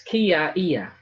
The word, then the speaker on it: kia ia: Kia ia, kia, kiaia, te whakamoemiti, te kororia. So when it's strung together quickly, it's kiaia. AIA is aia, aia, kiaia, te whakamoemiti, te kororia.